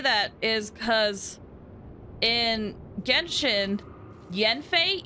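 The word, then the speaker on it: Yanfei: is because in genshin Yen FEI even though it's spelled with an a it's still pronounced as Yen Yen I don't know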